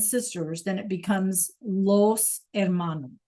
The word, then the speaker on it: hermano: Clase el hermano, like we saw in the video, el hermano is brother. Remember, the H is silent. El hermano.